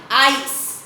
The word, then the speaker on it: ice: Then ice. If we add silent E over here, the sound of I is I only. If we don't change the sound to E, it is I, ice.